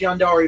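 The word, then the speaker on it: yandere: gendered thing meat I I just know that it's pronounced Yan dari because I watched an anime once mmm yogurt is not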